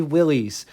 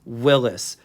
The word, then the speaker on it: Willys: and show you according to Wikipedia it is pronounced like this and off camera I will admit that I say Willie's but the correct way according to Wikipedia is Willis I keep getting it in the comment section